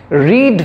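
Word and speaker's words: read: হচ্ছে এটা past tense রিড ভার্বের সিম্পল পাস্ট টেন্স ফরম্যাট অনুযায়ী এটা ব্যবহার হয়েছে তো এখানে এটা বলা হয়েছে এরকম একটা সেন্সে রিড শব্দটার ব্যবহার হয়েছে সেটার পাস্ট সেন্স তাই জন্য রেড উচ্চারণ হচ্ছে তো এটা হলো মোট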